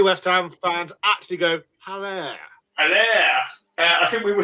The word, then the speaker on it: Haller: The last Haller, yeah. Haller, sorry. Haller. I see. Be honest, how many West Ham fans call him Haller? And how many West Ham fans actually go Haller?